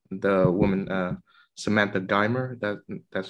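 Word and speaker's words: Geimer: I was thinking about how the woman, Samantha Dimer, that's how you pronounce her name, decades later, she made her separate peace with Polanski without the interference of media and the law.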